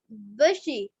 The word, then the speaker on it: bushy: Bushy. B-U-S-H-Y. busy নয়, বুসি or বাসি, ওটা বিজি নয়, কথাটা প্রোনাউন্সটা বিজি নয়, বুসি মিন্স হচ্ছে বুসি টেল,